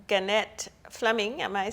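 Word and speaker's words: Gannett Fleming: engineer construction project manager at a company called ganette Fleming am I saying it right um right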